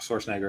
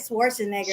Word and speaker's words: Schwarzenegger: The reason why I said it is because we had Arnold Schwarzenegger as governor.